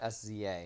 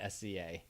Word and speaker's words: SZA: Actually, once I saw it Definitely all not capitalized, I thought SZA. It's definitely not SCA. I feel like it's like... I think I said it right.